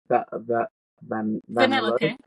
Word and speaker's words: Vanellope: How do you pronounce it? Vanellope.